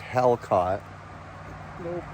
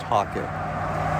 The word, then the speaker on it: Halcott: raw conditions join us for a hike up hawkit mountain a catskill 3500 bushwack well today we are hiking hockey mountain not to be confused and pronounced hell caught it's pronounced hockey we might do it as you might do